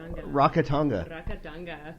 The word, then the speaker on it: Rakatanga: I am here with, alright, let's make sure I say it right, Rakatanga? Rakatanga.